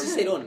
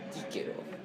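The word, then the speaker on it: Cicero: No es Cicerón, prefiero Quíquero.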